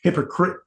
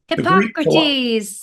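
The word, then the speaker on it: Hippocrates: and hippoc Cotes Hipp Hipp I always can't pronounce his name hippocrite the oh shoot what's his name hypocrates there you go there you go so with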